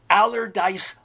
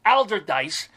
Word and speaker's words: Allderdice: a member of Pittsburgh's allerdyce High School Hall of Fame or I think I pronounced that wrong it's Allderdice high school also tell about it